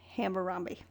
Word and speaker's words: Hammurabi: Hammurabi is how it's pronounced.